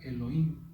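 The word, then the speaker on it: אלהים: La A, que es la letra Aleph, viene de la primera palabra que se pronuncia Elohim, que empieza con la Aleph.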